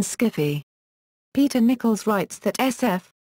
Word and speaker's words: skiffy: around 1978, Susan Wood and others introduced the pronunciation skiffy.